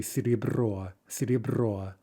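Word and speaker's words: серебро: more like simply right note that we're not hearing a ye sound there we're not saying or something but simply siri bro similarly ya when stressed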